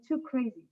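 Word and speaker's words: 2CRSI: give you a trick usually English speakers pronounce it pronounce our name too crazy so maybe with too crazy will be easier and why too crazy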